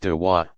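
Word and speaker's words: دعوة: Proselytizing is called inviting, dwa, pronounced dawa, others to join the community of Islam.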